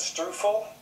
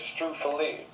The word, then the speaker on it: struffoli: I always call it struffle, but the right way to say it, as I've learned, is struffoli.